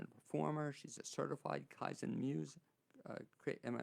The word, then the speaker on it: Kaizen Muse: She's a certified Kaizen Muse. Am I pronouncing that right?